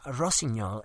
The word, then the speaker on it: Rossignol: Don't want to disappoint, and Rossignol is fine. Also, I'm impressed you pronounced it correctly.